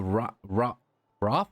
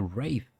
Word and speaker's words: wraith: I always thought it was a Roth? No, Roth or something. A wraith. Okay, I didn't know you actually pronounced it that way.